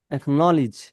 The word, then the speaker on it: acknowledge: achievement, achievement, achievement, achievement, acknowledge, acknowledge, acknowledge, acknowledge, লেজ না lease অ্যাকনলেজ acknowledge, acquire, acquire, acquire,